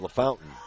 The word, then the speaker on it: LaFontaine: Well, Jamie's pronouncing it LaFountain, so we'll go with his pronunciation.